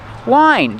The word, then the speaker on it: whine: How do you pronounce it? Wine. Just like the wine you drink.